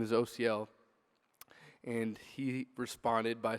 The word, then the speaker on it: Osiel: spelled like that but it's pronounced like the letters o C and L so just a good